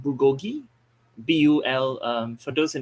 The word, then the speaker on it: bulgogi: have this high grade beef which is called bulgogi bul um for those in the chats if